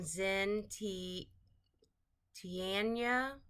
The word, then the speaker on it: Xin Tian: says happy birthday and um this is from Zen t ianya zentian that's how you say it um they